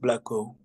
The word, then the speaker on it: Blacko: The pronunciation for my name is just Blacko. Is Blacko.